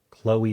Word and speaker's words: Chloe: Chloe rhymes with snowy, sure.